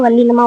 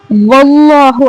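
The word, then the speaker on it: والله: பிள்ளைகளுக்கு கூட தெரிந்த சூரா இந்த இடத்துல கவனிங்க அல்லாஹ் வல்லினமாக சொல்லணும் ஏன்னா அல்லாஹ் என்ற வார்த்தைக்கு முன்னாடி ஜபரோ பேஷோ இருந்தா இந்த அல்லாவ வல்லினமா உச்சரிக்கணும் அதன் காரணமா வல்லா அப்படின்னு சாதாரணமா சொல்லாம வல்லாஹு அப்படின்னு ஒரு மோட்டாவான வாய்ஸ்ோட வல்லினமாக ஓதணும் இதுல எல்லா எல்லா ஆயத்துலயும் பாத்தீங்கன்னா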